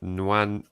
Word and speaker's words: Nwaneri: Need to put in Nwaneri. That's how you pronounce it.